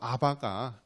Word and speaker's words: 아바: 그래서 아바가 이 원어로 그대로 소리나는 발음인데요. 아바.